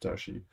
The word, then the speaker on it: DaXi: mandarin chinese uh uh dashi actually if you pronounce it correctly it's pronounced darshi uh large and fine